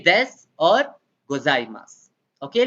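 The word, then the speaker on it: ございます: path is silent okay the u part is silent why is it silent because when we talk fast in japanese the u sound is omitted usually okay so you say this or gozaimasu okay like that but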